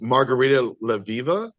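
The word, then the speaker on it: Margarita Levieva: Uh, I met Margarita Leviva is how you say her name.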